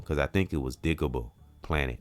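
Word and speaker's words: Digable Planets: So and it's if I'm not mistaken, it's digable planet. And I think I said digible because it's it's digable.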